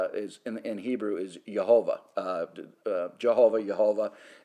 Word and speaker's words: Jehovah: Jehovah in Hebrew is actually pronounced Yehovah, and that's the Father, the Son, and the Holy Spirit.